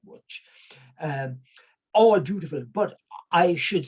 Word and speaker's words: Łódź: I think they pronounce it something like Łódź.